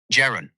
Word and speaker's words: Jeran: Can you say it like Darren or like Karen with a J? Jeran? Jeran, like Karen with a J at the front.